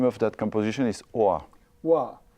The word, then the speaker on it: Hoa: Hoa. How do we spell that?